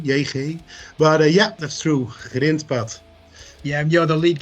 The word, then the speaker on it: Grindpad: It's Grindpad and it translates as gravel path. That's correct, isn't it? Yeah, hi Kirk, nice to be here. Yeah, that's correct. It's the impossible Dutch G, Grindpad, like my name